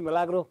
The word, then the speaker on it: Milagro: And actually, Milagro, am I pronouncing that right? I believe so. Sí, Milagro.